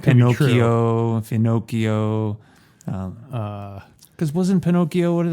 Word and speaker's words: Finocchio: Yeah, Hollywood Finocchio. And my impression is that is a vulgar Sicilian term for a homosexual. That's correct. I looked that up too. Finocchio. Finocchio. Rhyming with Pinocchio.